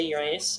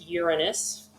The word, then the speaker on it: Uranus: and chunks of rock around it now I pronounced it Uranus some of you may say Uranus but it's Uranus Uranus is actually if you remember us said